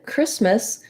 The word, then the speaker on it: Christmas: a nice tense e in christmas the ch says the k sound the k sound uh